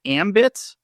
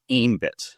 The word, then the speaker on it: Aembit: So, let me ask what I'm going to assume is the source of this is is it ambit? I've also heard it pronounced as ambit which is the correct way.